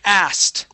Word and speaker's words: asked: okay this word is asked asked good okay so we're going to skip over that K okay we're going to skip over the K and go right to a t sound asked okay as yeah good